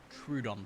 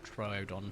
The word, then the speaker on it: Troodon: I tell you what, if they were to say, oh, here is a Trudon plushie, or Troodon for those that are sticklers for the correct pronunciation, right?